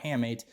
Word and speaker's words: hamate: waving at you all right this is your hey mate you're a haymate it's actually pronounced handmates but it's easy to remember if you can change the pronunciation so haymade or hamate is the one that's waving at you right